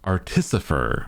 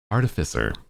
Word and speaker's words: artificer: like the fact that some people would claim that the word is pronounced artiser artifer artificer because they're artififices. They make artififices. Why would it be pronounced differently?